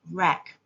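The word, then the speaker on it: wrack: W is a silent letter in the word rack.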